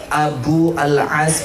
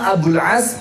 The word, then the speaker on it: Abul As: Nah sudah, saya udah curiga tadi karena bacanya masih Abu Al-As bin Ar-Rabi. Ketahuan baca banget. Dia nikah sama Abul As bin Ar-Rabi.